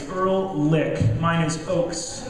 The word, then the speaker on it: Ehrlich: Then we have Ehrlich, and that's how we pronounce her last name. It's Ehrlich.